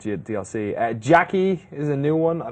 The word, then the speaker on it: Jacqui: Jackie. Does she go, gotcha? It's Susan is in there. Gotcha. Diane. it's spelled differently. It's JACQUI.